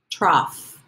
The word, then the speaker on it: trough: flaws stall lon straw trough this is a funny word because there is no F letter but we do make an F sound at the end let's try it again